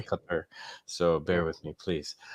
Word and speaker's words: Qatar: for my pronunciation man I'm still saying Qatar when should be cut her so bear with me